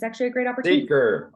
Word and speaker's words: Seker: Seeker, like I'm seeking wisdom in life.